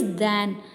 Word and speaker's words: than: The pronunciation of this word is दैन एंड the pronunciation of this word is देन, ठीक है।